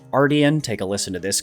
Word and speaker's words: Artian: Yes, it is pronounced Artian.